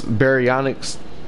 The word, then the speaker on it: Baryonyx: Like I use a baryonyx for the brown bear because baryonyx, the first syllable in that sounds like bear, berry, you know.